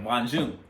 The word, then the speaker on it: Hua Jun: And Mulan was like, I'm Hua Jun. That's how you say it, Hua Jun.